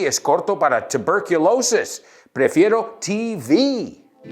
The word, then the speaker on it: TV: Oh, and cuidado, I've heard a lot of students say TB. TB, por favor, TB is corto para tuberculosis. Prefiero TV.